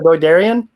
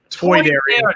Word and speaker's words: Toydarian: I'm a Toydarian. Your mind tricks don't That's work. Thank you. Sorry. How do you pronounce it again? A Doidarian? Toydarian.